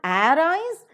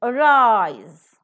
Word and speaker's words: arise: and never the prefix so it is not arise it is arise and whenever you're not giving importance to the first syllable the first syllable will have a weak prefix the first syllable will have a weak vowel sound so the weak wall